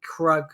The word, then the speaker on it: Krug: like the Krug, but they weren't pronouncing the G. So it sounded like Crew that they kept calling him, but then it says Krug.